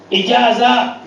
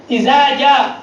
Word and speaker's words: إذا جاء: But they say what? إجازة. إجازة نصر الله. I said look, إذا جاء.